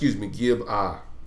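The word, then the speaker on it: Gibeah: We will pass over to, and this in Hebrew is, you would pronounce it Gib-ah.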